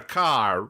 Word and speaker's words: Kerr: takes a family name, Kerr. Must be said, because this is an audio medium, it is spelled Kerr, right? Pronounced like car, like the star.